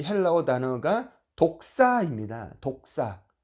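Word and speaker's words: δόξα: 이라는 이 헬라어 단어가 독사 입니다 독사 발음이 좀 그 그 어떤 동물과 비슷하죠 독사 독을 가진 2급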